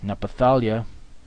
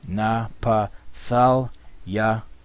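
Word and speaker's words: Naphtali: page all right the next one is napali napala napala which means my wrestling yah is he Napal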